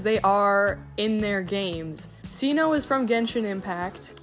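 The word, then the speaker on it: Cyno: I know his name is Sino, but at the time I pronounced it Sino, and I just decided to keep it and change how I spelled his name.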